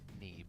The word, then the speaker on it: Neeb: the one, the only, Neeb. Which backwards is Ben. Yeah. Isn't that weird how we pronounce it that way? I like that you reached for Bean, and it's like, no, it would be Ben.